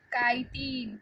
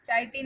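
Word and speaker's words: chitin: इसका cell wall काइटिन, चाइटिन नहीं पढ़ना है इसको, काइटिन।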